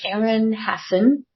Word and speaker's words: Aaron Hassen: well I am very excited today to welcome Aaron Hassen did I pronounce that right you did okay good to